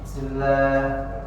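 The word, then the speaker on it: بسم الله: Kemudian ee tidak boleh ya menghentak bismillah bismillahirrahmanirrahimah misalnya gitu. Jadi itu mengurangi kesempurnaan huruf bnya. Bismillah. Nah, jadi dibacanya jelas.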